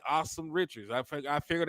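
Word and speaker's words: Asim: they like they like awesome Richards I think I figured out I've been butchering this name it's ah it's pronounced like a h and then some so it's like awesome so I like damn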